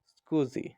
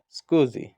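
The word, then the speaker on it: SCSI: computer system interface অথবা এসসিএসআই is pronounced S স্কুজি উত্তর হবে স্কুজি which of icons and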